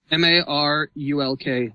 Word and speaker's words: Marulk: And speaking about that, Marulk, if I'm pronouncing that right, the main... Marulk. What? M-A-R-U-L-K.